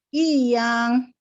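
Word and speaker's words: 一样: 一样。 Nadanya Ibu? yang. I-nya nada berapa? I-nya nada 2, Lause. Oke, kalau nada 2 gimana cara bacanya? Yang. I1 ya. I2. I yang.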